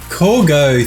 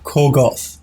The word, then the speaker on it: Corgoth: So thank you, Corgo, or Corgoth. I should say it correctly, shouldn't I?